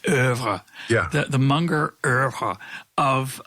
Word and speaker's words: oeuvre: So the Munger Irv, or to give it the highbrow pronunciation, oeuvre.